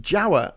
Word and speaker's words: Jawa: Majapahit Empire of Java, which is pronounced Jawa, actually, and there's a place on Jawa called Solo.